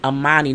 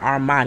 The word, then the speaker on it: Amani: Her name was Amani, not Armani. I kept saying it with an R, there's no R in it. But Amani and Woody, I think, is our fave, along with Amelia and Bennett.